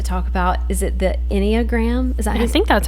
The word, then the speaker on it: Enneagram: are going to talk about is it the Enneagram is that I think that's how you say it yeah Enneagram um I have never taken the test before